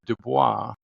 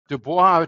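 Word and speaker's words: Du Bois: to be William Edward DUIs that's a French pronunciation of his name but debois turns out to be the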